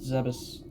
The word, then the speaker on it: Zebes: I'm gonna say it's Zebes. I don't care if it's like pronounced Zebus. Fight me.